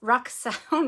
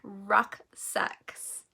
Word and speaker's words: rucksacks: called the uh the canvas bags rack sacks rucksaw now i'm saying it wrong rucksacks ah okay yeah i think we had a